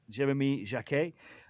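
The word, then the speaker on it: Jacquet: by his club and this is Jeremy Jac as I've been told is pronounced Jeremy Jac.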